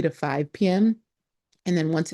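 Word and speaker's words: Pak: So p is like sir p a k but the k is silent.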